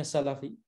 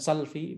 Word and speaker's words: Salafi: maka disini kita lihat Salafi dengan Shin yaitu Fathan lemnya itu Fatah jadi bacanya Salafi bukan salvi bukan si Lavigne bukan yang lain-lain ya